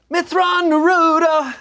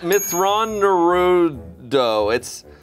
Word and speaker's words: Mitth'raw'nuruodo: Mithra-Naruto. It's actually pronounced Mithra-Naruto. Naruto. Matthew Naruto. It's Mithra-Naruto.